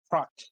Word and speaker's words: Hrot: Trot. It's a Czech word.